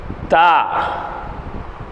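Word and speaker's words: ت: அதுதான் அந்த முரசு என்பாங்க அந்த இடத்துல நம்ம நுனி நாக்கு பட்டு வரணும் பாருங்க தா தா தா தா சில பேர் என்ன சொல்லுவோம் தா அப்படின்னு சொல்லி தா அப்படின்னு சொல்லி நாக்க வந்து ரெண்டு பல்லுக்கு நடுவுல வச்சு கடிச்சு தா வை சொல்லுவோம் தா அப்படி சொல்லக்கூடாது நுனி நாக்கு மேல்முறைசா பண்ணனும் தா தா தா தா புரிங்களா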